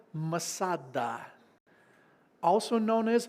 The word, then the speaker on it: Masada: to a place called Masada also known as matada if you want to pronounce it in the Hebrew Mada is sobering it